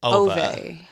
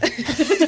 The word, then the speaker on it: Ove: I said Ova. Ove. Ove. Yeah. We're all wrong. It's It's Uva. Uva. It's Uva. It's a man called Uva.